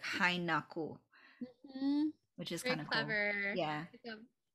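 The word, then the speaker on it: hay(na)ku: writes it is so hainaku is is two words h-a-y and then n-a-k-u but the high not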